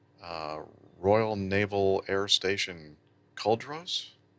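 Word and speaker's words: Culdrose: Royal Naval Air Station cauldros is that the way you pronounce that Nick uh yep col Rose yes okay and close by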